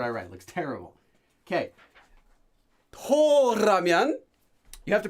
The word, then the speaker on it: 더라면: Toramyon. You have to pronounce it like that.